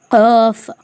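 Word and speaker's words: قاف: இது வந்து ஒரு சில பேர் கேஃப்னு ஓதுவாங்க, அப்படி ஓத தேவையில்ல. இதுவும் காஃப் தான். இது கொஞ்சம் தடிமன், இது கொஞ்சம் மெலிஸ், டிஃப்ரென்ஸ் அவ்வளோதான். காஃப் காஃப்.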